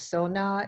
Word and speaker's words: Sona: okay my name my first name is says Sona it's spelled s like Sam a aslak same as